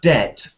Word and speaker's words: debt: think they shouted de but it's pronounced it as debt debt Deb without any attempt to make any kind of um or stop it's just debt so next word begins